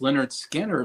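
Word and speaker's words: Lynyrd Skynyrd: Ry stuff um I also listened to um pronounced Leonard skanner for the first time and that was in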